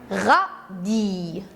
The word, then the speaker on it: radis: Bien sûr, encore pour une autre fois, le S est écrit dans le mot, mais on ne le prononce pas.